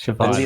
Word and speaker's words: Chevalier: No, Chevalier. It's Chevalier. French. Okay. It's knight. It's French for knight. Yeah, no, I always get it mixed up somehow. Right. Horse, cheval. Chevalier.